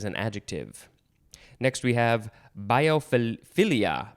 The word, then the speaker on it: biophilia: and biopharmaceutical is an adjective next we have biophilia biophilia b-i-o-p-h-i-l-i-a noun you could also pronounce it uh biophilia biophilia no biofilia or